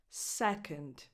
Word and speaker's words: second: Second. The stress is on the first syllable, se, and then the O in the other syllable, the one that is unstressed, is just a schwa.